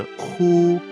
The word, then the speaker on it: 呼: The spleen will respond when the sound hu is pronounced.